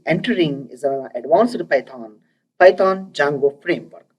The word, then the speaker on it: Django: And now we are going to be entering is an advanced Python Django framework. D is silent in this word called Django framework.